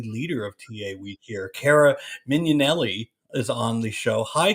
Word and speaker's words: Mignanelli: good with names but it's pronounced like minion so minion Elli I can get it